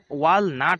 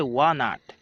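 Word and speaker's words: walnut: ওয়ানাট, যার বাংলা নাম হচ্ছে আখরোট, যদিও এখানে উচ্চারণটা অনেকটা ওয়ালনাট হয়, কিন্তু এল এর কোনো উচ্চারণ নেই, এখানে সাইলেন্ট, তাই এর উচ্চারণটা হবে ওয়ানাট, যার বাংলা নাম হচ্ছে আখরোট।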